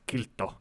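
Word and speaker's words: Kiilto: Som uttalas kilto.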